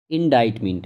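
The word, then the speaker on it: indictment: What is एन, यहाँ पे पूछा गया है इंडाइटमेंट है ये, ठीक है, इसको प्रोनाउंस हम इस तरह से करते हैं, व्हाट इज़ एन इंडाइटमेंट।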